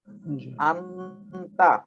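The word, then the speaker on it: 앉다: আন্তা, এটার উচ্চারণ হবে কি আন্তা, আন্তা অত বসা, আন্তা অত কি বসা, আন্তত্ব বসা, আন্তত্ব বসা।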